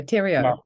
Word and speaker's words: Theriault: every Butcher of it it is beautiful yeah Tero you say yes well we' had we've ched